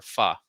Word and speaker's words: pho: And she introduced me to this little faux place, or pho is how it's pronounced, pho.